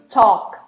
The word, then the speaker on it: talk: Eu sei que eu tenho um L aqui, mas esse L não é pronunciado, tá bom? Então é talk, não é talk, nem talk, tá bom? É talk. Que nem walk, palavras assim, tá?